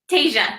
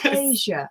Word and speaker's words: Tesia: Tesia, like Fantasia.